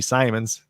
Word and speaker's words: Simons: yeah we want anthony simons is actually uh how you pronounce his last name simon's yep uh only one m n not two m so all right and